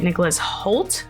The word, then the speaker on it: Nicholas Hoult: other than Dracula, as well as the great Nicholas Hoult, I think is how you say it?